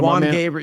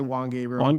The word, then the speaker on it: Juan Gabriel: that's the Spanish enunciation. Yeah. So Juan Gabriel. You can also say Juan Gabriel.